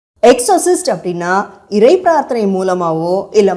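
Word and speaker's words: Exorcist: 1973ல release ஆன தி எக்ஸிஸ் உங்களுக்காக இன்னொரு தடவை உச்சரிக்கிறேன் எக்ஸோசிஸ்ட் எக்ஸோசிஸ்ட் அப்படின்னா இறை பிரார்த்தனை மூலமாவோ இல்ல மாந்திரீகம் மூலமாவோ பேய்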